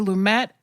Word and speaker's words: Lumet: I think either's fine because Lumet is just like the French version.